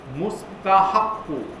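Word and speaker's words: مستحق: হু, এখানে একটা শব্দ আছে, এটাকে আমি এখানে উচ্চারণ করে লিখে দিছি, মিম সিন তা কহা মুস্তাহাক্কু, মুস্তাহাক্কু হচ্ছিল এলিজেবল ফর ডিজার্ভিং অর কর্তি মুস্তাহাক্কু,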